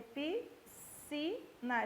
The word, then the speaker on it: piscina: Se eu tiver piscina, tá? O que é que eu tenho em piscina? Eu tenho piscina, isso aqui é um só som.